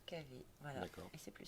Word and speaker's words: KV: Alors que lorsqu'on prononce la lettre K et la lettre V, on prononce KV.